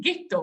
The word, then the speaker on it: ghetto: all so gto became ghetto pronounced the German way actually so ghetto came to identify a sense of area in which Jews lived.